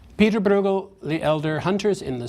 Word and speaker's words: Bruegel: would sound more like bruco but in English if that's difficult we often use a hard G as I shall Pieter Bruegel the elder hunters in